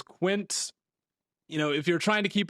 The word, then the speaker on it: Quince: team, sent an email that I was pronouncing it wrong. So I understand that it's not the Spanish word for 15. It is Quince.